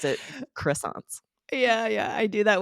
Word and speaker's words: croissant: of delicious treats, but my favorite was fresh croissants. And Aubrey, you'd be Nice. better at pronouncing croissants than I would.